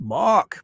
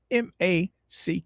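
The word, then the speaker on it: Mack: Or Mac or Mark, I'd say. Oh, it's Mac. M A C K. Mac. All right. Mac.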